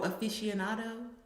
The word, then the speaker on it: aficionado: Oh, aficionado.